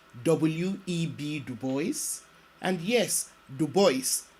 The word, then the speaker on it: Du Bois: Legend William Edward burgert Du Bois more popularly known as W.E.B Du Bois and yes Du Bois not DuBois and being faithful to the way he pronounced his name W.E.B Du Bois was